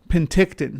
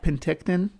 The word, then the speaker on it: Penticton: Penticton. Okay. I can say it like that. Penticton.